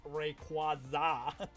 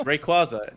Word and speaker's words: Rayquaza: They they had to do that thing at the recent world championships where it's like it's Rayquaza. It's Rayquaza. Not Rayquaza. It's Rayquaza. Not Rayquaza. It's Rayquaza.